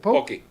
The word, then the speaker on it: poke: Or how do you pronounce it? Poke.